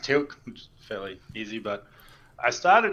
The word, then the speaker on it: TEALC: you choose his name for yourself um it's pronounced tilt fairly easy but i started as grey worm